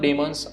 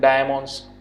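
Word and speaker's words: daemons: कई लोग इसको प्रोनाउंस करते हैं डायमॉन्स, ठीक है, कई लोग बोलते हैं डीमंस। तो आप यहाँ पर कोई भी चीज़ यहाँ से प्रोनाउंस कर सकते हो, ठीक है, जो भी आपको अच्छा लगे।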